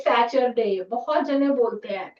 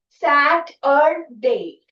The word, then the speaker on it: Saturday: And I have seen in Punjab, I've noticed many people will say Saturday. So it is Saturday.